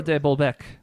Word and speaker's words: de Bolbeck: well, my name's de Bolbeck. There's a D-E space, so you know it is Le French. Even though it's not actually, but de Bolbeck? de Bolbeck. Sure. Rhymes with Quebec.